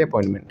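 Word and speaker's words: appointment: वो एन के बाद टी नहीं बोलते, बोलेंगे ना अपॉइंटमेंट, है ना। एग्जैक्ट तो इसकी जो प्रोनाउंसिएशन होगी दैट इज अपॉइंटमेंट। लास्ट वाला टी वैसे भी नहीं बोलना होता, अपॉइंटमेंट। लेकिन अमेरिकन कहते हैं एन के बाद टी भी हटा देंगे हम, तो बोलेंगे अपॉइंटमेंट।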